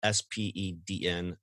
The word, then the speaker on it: Spedn: Flexa has established a network and launched an iOS wallet app called Spedn. It's Spedn. I swear I didn't mispronounce that.